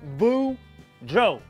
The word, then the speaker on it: Boudreaux: there kids it's me boudreau that's pronounced boo joe and i'm here to